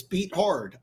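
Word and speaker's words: Beathard: how it says it's it's how it's spelled it's beat hard I mean you know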